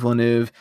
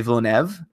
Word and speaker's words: Villeneuve: Yeah, I say Villeneuve. I usually said Villeneuve because that's how I read it. But Villeneuve is, I think, how you say it. Neuve is the way that you say it correctly.